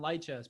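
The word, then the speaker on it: Lichess: who people play on Light Chess, people who play on, or Lee Chess, I guess it's pronounced, all the different big chess sites.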